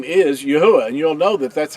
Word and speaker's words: Yahweh: But if you'll stay fast, steadfast to it, and he'll reveal that his name is Yahweh and you'll know that that's how his name is pronounced.